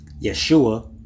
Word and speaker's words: Yeshua: Now, I know they try to justify it by saying that they could not pronounce the sh. So instead of saying Yeshua, they say Yeshua?